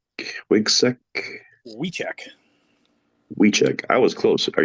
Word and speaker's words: Wiczek: And is the correct pronunciation Wiczek? Wiczek? Wiczek.